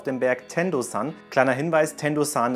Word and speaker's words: Tendosan: Kleiner Hinweis, Tendo-san ist übrigens die japanische Aussprache für den Berg.